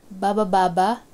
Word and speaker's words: bababa: Baba baba going down. This first one is actually a sentence and it's just made of one syllable which is ba.